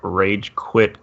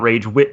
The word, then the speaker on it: ragequit: and on Twitter at ragequit the quit is spelled a little dumb it's kwi t it is not rage wit as some mistaking it